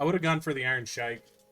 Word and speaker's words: Iron Sheik: I would have gone for the Iron Sheik. Iron Shake, you mean? Nah, the Iron Sheik.